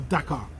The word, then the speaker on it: Dakar: the parts are in the car, or Dakar, if you're using proper pronunciation.